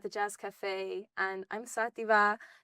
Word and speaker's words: Xativa: So 2nd of May at the Jazz Cafe, and I'm Xativa, spelled with an X. Xativa, Xat_IVA on socials.